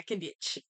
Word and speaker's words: Kinich: Kinich the two-bit bitch. Is that how you Yeah, say his name? yeah, Kanich.